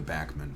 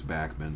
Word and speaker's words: Bachman: Tim backman were the backman brothers um the the family pronounces the name backman um Canadian radio Personnel pronounced it as Bachmann but when they broke in the United States suddenly they became Bachmann so the band is